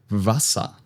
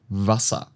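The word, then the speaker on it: Wasser: In German, W is pronounced like in English V. So here we have the word D vasa. D vasa.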